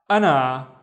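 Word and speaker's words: أنا: The first syllable is basically a and then na ana and is i. Anna the pronoun.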